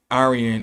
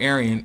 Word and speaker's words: Aryan: While we do not contest in any way the majority of Professor Waddell's findings, we do not accept Aryan or Aryan as a term distinguishing racial type.